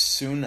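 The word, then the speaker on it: σύν: because this word it's soon flat o and it means soon it's spelled s-u-n but it's pronounced soon soon was this word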